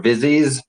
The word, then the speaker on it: Visages: term um but uh I think the the approved terminology here is either Visage or vies um or if you